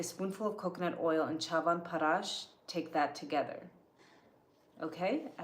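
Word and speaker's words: Chyawanprash: Chavan Parash is wonderful.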